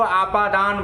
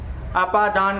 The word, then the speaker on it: अपादान: दिक्कत कर देते हैं उच्चारण में इसको अदान बोलते हैं अदान नहीं होता अपादान कारक बोलेंगे और अपादान कारक में